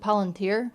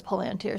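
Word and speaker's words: palantír: I'm always inclined to pronounce it palanteer cuz there's an accent on this eye, but in the movie, Gandalf says palanteer. So, I guess we're going with that.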